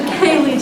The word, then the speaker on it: Kaylee: office her name is and I will ask her at this time to say a few words come on so he did mispronounce my name my name is actually Kaylee but I'm the treatment